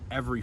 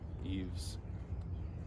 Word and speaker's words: Yves Tumor: I think it's Eve. It's French, you don't pronounce the S. Is it Yves Tumor? Sounds a little scary, honestly. Eves.